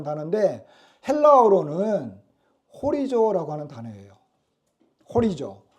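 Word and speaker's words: ὁρίζω: 호리조. 이 호리조라고 하는 헬라어에서 호리즌 뭐예요? 호리즌.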